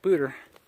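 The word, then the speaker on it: Poudre: Colorado State right there in front of us booter Canyon just says spelled pou d-r-e obviously should be pronounced Padre but out here everybody pronounces things with an Americanized versions of booter I think it's gorgeous absolutely spectacular another view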